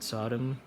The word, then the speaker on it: SODIMM: I think that's how you pronounce it, SODIMM, like Sodom and Gomorrah.